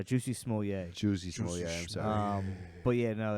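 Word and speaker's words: Jussie Smollett: their ass beat sorry you pronounced his name wrong it's uh juicy small yeah um but yeah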